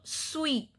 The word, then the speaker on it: suis: Conjugation of etre verb is je suis. Je suis. S is silent, means I am.